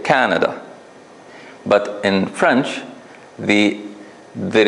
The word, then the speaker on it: Canada: in the word Canada we put it in the first syllable right you agree we say Canada but in French the